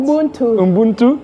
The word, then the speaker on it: Ubuntu: Ubuntu.